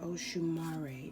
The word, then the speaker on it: Oshumare: And Oshumare is how you pronounce this name.